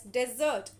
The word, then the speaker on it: desert: With double S, it is pronounced as dessert, and with single S, it is pronounced as desert.